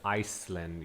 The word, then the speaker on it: Iceland: okay sorry to interrupt this word is Iceland you have to pronounce it as ice there is no s no no with with Iceland with Ireland we we don't say the S right yeah okay but